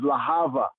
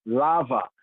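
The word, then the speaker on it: להבה: Sometime in modern Hebrew, they pronounce it as Lahava. In Wombmen of Rastafari, we say lava, Lahava, a soft B, Lahava is a flame, flames, like the flames, Lahava is flame, lava.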